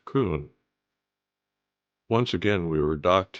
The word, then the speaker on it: Köln: the city of Köln, which is also Cologne, but the German pronunciation is Köln.